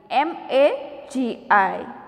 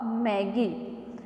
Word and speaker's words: Magi: you can thought that it is not a magi it is a maggie because its spelling is m a gi but dear student here i clear that its pronunciation is a magi not a maggie so maggie means the